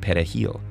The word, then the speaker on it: perejil: Dominicans pronounce it perejil, with a trilled Spanish R.